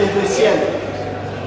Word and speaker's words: Ézéchiel: Alors souvent quand on prononce, les gens pensent qu'on n'a pas prononcé. C'est Ézéchiel. Et mademoiselle Adjossan Nadège.